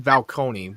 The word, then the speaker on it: Falcone: Falcone.